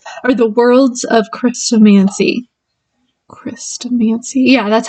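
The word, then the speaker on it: Chrestomanci: Christomancy?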